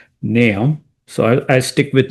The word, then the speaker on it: Nahum: So naam naam one some people say nahome that's also fine uh the Hebrew pronunciation is completely different. Uh most people would pronounce nam or nam. So the dictionary is telling me it should be pronounced nam.